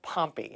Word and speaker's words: Pompey: So is it Pompey or Pompey?